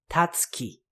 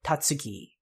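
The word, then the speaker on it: Tatsuki: name of the author himself he is Fujimoto tatki the and you will notice that there was a whispered vow there so the t is usually just pronounced ASI like that so it's tatki instead of tatsi usually also fun fact the Fuji Moto that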